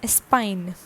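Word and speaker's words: Espagne: one is spain and spain is known as spine a spine e s p a g n e okay and the nationality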